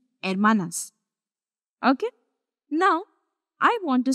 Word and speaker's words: hermanas: they are sisters and Manas if you guys remember H is always silent when we were doing